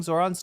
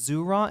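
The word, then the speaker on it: Zohran: Am I mispronouncing Zoran's name this whole time? It's not Zoran, it's Zuron.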